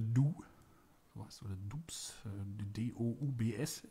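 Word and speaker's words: Doubs: So heißt es, oder Dubs. D-O-U-B-S. Ich glaube, er wird Du ausgesprochen.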